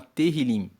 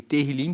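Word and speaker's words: Tehilim: O livro de Salmos no hebraico, ele se chama Terilim. Se escreve T E H I L I M E Terlim significa louvores.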